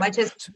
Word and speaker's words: Mytesi: Mytesi, is that how you pronounce it? Is the brand name? Okay. Mytesi brand name, yeah.